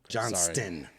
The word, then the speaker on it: Johnston: because Johnston, they're about the same. Yeah. There's a T in there. and it's not silent. Quintin. Johnston.